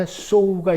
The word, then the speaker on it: sow: 그 다음에요, 오늘 본문에 sow가 있잖아요. 심은 대로 거둔다 할 때 what he sows, S-O-W.